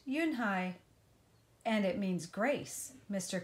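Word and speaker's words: Unhei: Kim then turned to Joey she nodded slowly yes it's pronounced you and I and it means grace mr. Kim added you Dan hi Joey said slowly and this time perfectly it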